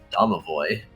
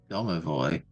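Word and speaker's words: Domovoy: out for then davoy davoy yeah d o m o v o y that's correct I I do appreciate names that are how you say the yes none of this silent letter nonsense the Harbor Town has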